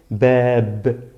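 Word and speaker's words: باب: Se pronuncia solamente bab, bab, como si lleva sukun, pero no lo lleva. No lo lleva, ¿vale? Bab. Pues con doble damma, babun, babun, ¿vale?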